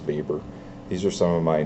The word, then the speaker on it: Weber: and yes it's spelled weber but it's actually pronounced vapor these are some of my nerdy pet peeves